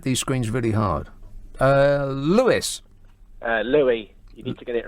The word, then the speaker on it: Louis: fair play, but it's Louis with the soft S, so you could actually mispronounce it as Lewis.